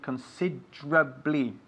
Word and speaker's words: considerably: it's considerably considerably and we emphasize just like Nieves is doing the second syllable considerably again considerably again